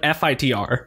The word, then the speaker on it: Fitr: ability to pronounce because it doesn't have a vowel before the R so it's like Fitr which is a really